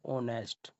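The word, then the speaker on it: honest: तो यहां पर देखिए ऑनेस्ट जो वर्ड है यह हमारा यहां पर एज साइलेंट है। तो यहां पर जो साउंड निकलता है वोवेल साउंड निकलता है ऑनेस्ट।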